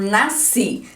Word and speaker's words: nasci: Nas palavras oxítonas, a sílaba tônica é a última, como por exemplo, nasci. Si, que está grifado ali, é a sílaba tônica da palavra.